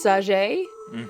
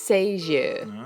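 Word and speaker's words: Sagée: Now, every other person I've heard read or do any kind of information on this girl says Sager, but I looked up the French pronunciation and it's Sager.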